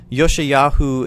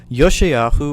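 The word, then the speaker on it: יֹאשִׁיָּהוּ: josiah known as yoshiyachu yoshiyahu is how you pronounce his name in the hebrew tongue yoshiyahu or josiah was eight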